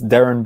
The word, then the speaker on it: Darren: it up name is darren bennett so aaron i usually tell people say aaron and put a d in front of it and that usually helps